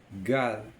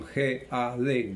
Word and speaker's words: God: Gad. Se pronuncia con G-A-D, Gad.